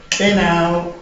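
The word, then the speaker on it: know: Kenau, K-N-O-W, is best pronounced Kenau instead of N-O, no.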